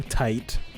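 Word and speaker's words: Tite: yeah also uh yeah his name is pronounced kubo tight tight yes i think he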